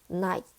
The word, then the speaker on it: night: 저번 시간에 배웠던 G랑 H를 묶어서 쓰면 묵음이 되거나 또는 우리가 배웠던 어떤 소리? F 소리로 변하기도 합니다. 라고 해요. 그래서 high, night, lap, lop 이렇게.